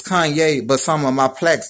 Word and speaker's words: Kanye: you know all I need is y'all to pronounce my name it's Kanye but some of my plaques they say he'll